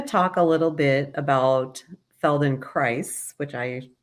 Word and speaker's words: Feldenkrais: In fact, we've done, you know, we try to do a service and we say it rhymes with paradise. So, felon cries paradise.